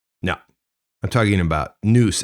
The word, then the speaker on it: nous: no i'm talking about noose as in the way the greeks pronounced it ancient greeks alike with not so